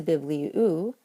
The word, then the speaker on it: βιβλίου: Biblion wants to keep an acute over the iota in the second to last syllable. So when it changes to bibliou, of a book, and that last syllable becomes